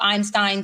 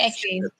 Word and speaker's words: Epstein: We knew about this whole possible Einstein stuff. We knew about this whole Einstein, whatever. Say it, Tori. I don't care how you pronounce the damn thing, okay? Epstein.